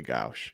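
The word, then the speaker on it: gauche: a video is totally gou gosh. What's the word? How do you pronounce that? I always forget. Uh go. Thank you. That's the right way to pronounce it.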